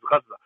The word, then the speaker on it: Gaza: going on and Gazza which is the proper way to say that people say Gaza but the proper way to say that is Gazza I know that that's a little that's a little unorthodox because we've been saying Gaza nonetheless um uh you